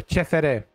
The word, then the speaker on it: CFR: And now we are traveling to Cluj because we're playing the team on the first place, CFR, or Cefere, with the Romanian pronunciation.